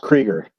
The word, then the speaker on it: Krueger: Okay, Kreueger or Krueger? How do you pronounce your name? Number 3. It's pronounced Kreueger. Kreueger.